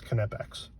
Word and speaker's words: Knipex: there on there YouTube telling you how to pronounce it it's connects anyways rant out of the way so these